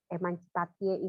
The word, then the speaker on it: emancipatie: Kalau dari tulisannya itu EMANCIPATIE, emancipatie gitu ya. Tulisan apa namanya, kalau ditulis gitu ya, bacanya tetap emansipasi. Itu bahasa Belandanya emancipatie gitu.